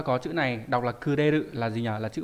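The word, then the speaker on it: 暮れる: Đọc là kuderu.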